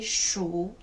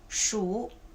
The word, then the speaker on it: 数: Okay, so this character, as a verb, it must be the 3rd tone. Okay, as a noun, is the 4th tone.